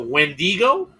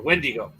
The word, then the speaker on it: Wendigo: Wow, that's a Wendigo or a Wendigo. When depends on the tribe. A lot. There's Wentika, Wendiga. There's a dozen different pronunciations for the same creature.